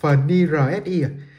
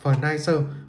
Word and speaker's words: FNIRSI: Ngày xưa mình hay đọc là Furnirsi, gần đây mới thấy anh em đọc là Furniser, có mã là FNAC28 các bạn nhé.